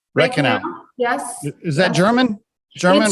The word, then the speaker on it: Reichenau: butcher your last name so why don't you pronounce it correctly for the listeners uh so it's rain canal red canal red canal yes is that german german or whatever my